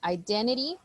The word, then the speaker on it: identity: um the word here identity theft and now let's see pronunciation identity identity identity identity identity like there's no T so we just say identity identity identity and then